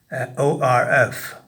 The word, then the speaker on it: ORF: as open reading frame often abbreviated to and pronounced o RF since orfs are derived